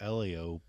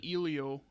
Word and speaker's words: Elio: I know uh a lot of people I talked to didn't know how to pronounce the name. They kept saying Ilio and I go I get where your mind would go because of how the English language works, but also this is